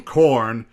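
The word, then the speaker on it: Khorne: corn that's the name corn it's k-h-o-r-n-e it's spelled cool but it sounds you know it sounds like the yellow kernels you find in your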